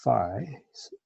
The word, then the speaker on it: phi: Okay, so then phi of n, so this Greek letter is pronounced phi.